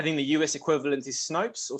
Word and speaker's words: Snopes: but the i think the u.s equivalent is snopes or snoops i always always forget pronounce it but snopes is yes utterly yeah they're utterly amazing um